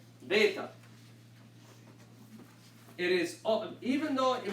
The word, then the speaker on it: Beta: Beta. It is, even though it might you see differently on your notes, this letter should always be pronounced as only a B.